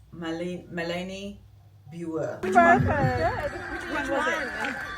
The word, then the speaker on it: Malene Birger: I learned that's the pronunciation at the very end. I was saying Malene Birger show or Birger, and it's not. It's Malene Birger. Which one was it? Malene Birger.